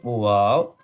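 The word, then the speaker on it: واو: And I said before in the first class that wow, it's kind of English word when we use when we see something amazing, we say wow. So this one is wow. Noon. Wow. Wow. Wow. When you round both lips, you can pronounce easily wow.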